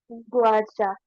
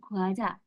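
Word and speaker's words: 과자: Guaca. Nah, saya dibacanya ini guaja.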